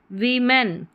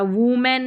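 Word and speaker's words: women: वीमेन क्या है? वीमेन इसको ओ है वी ई साउंड आ रहा वुमेन नहीं वीमेन आ रहा है फिर है आई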